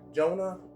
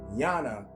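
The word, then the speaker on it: יונה: All right, Jonah actually is pronounced Yana in Hebrew.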